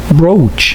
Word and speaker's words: brooch: Can you find this sound in Arabic, my friend? طبعا في كلمات زي نوم وعوم. O, brooch. Excellent.